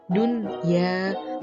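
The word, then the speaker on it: دنيا: Berikut contohnya, seperti lafadz dunya, karena di sini ada nun sukun bertemu dengan huruf ya, sehingga bacanya jelas menjadi dunya.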